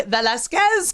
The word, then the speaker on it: Velasquez: ado we are so excited to welcome lizzie velazquez today thanks for having me and thanks for pronouncing my last name exactly right oh i